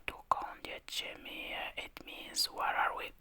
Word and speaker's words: Dokąd jedziemy: Dokąd jedziemy? Dokąd jedziemy?